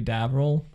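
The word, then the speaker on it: Davriel: Davril.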